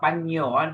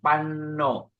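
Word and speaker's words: paṭipanno: This is not Panyo. This is Panno. Supati Panno.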